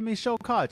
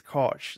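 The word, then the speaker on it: Michel Koch: He just says it comes across as Co, but I think it's pronounced Coke.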